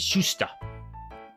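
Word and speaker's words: Shuster: I didn't pronounce the t there. Siegel and Schuster.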